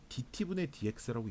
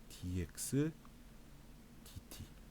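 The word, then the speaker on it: dx/dt: dt분의 dx라고 읽지 않습니다. 어떻게 읽냐면 분자부터 읽어요. dx dt 이런 식으로 읽는데 x에 대한 x를 t에 대하여 미분하세요 이런 뜻입니다.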